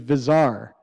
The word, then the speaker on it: Bazaar: a company called Bazaar if you don't know how to pronounce it the correct pronunciation is bizarre video bazaar where they